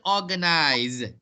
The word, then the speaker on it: organize: American, organize. It's a Z sound. Listen, organize, British. Organize, American. British, realize. American, realize. Both is pronounced with a Z sound, not an S sound.